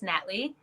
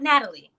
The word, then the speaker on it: Natly: hello my name is natly that's Nat two syllables not Natalie okay let's just start